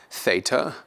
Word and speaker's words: Theta: in way or skate Theta will be pronounced like a th in English or Throne THS in Throne then we have Iota